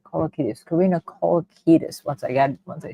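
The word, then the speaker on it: Kolokithas: Let me pronounce it right. Kolakitus.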